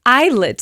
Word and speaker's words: ILLIT: Okay, I understand that I said Illet to be real. I didn't know how to pronounce it, but you guys have told me in the comments.